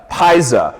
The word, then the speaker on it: Pizza: Fe February as well well for Natalie uh Paisa as it's properly pronounced for mattye Bloom Caitlyn Manning as well